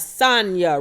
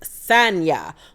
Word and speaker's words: Sanya: First up, we have Sonia Richards-Ross, or Sanya Richards-Ross. She said that her name is actually pronounced Sanya, but she likes to be called Sonia.